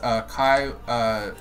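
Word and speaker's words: Caeh: Yeah, but by the way, when I say Kai, it's spelled C-A-E-H.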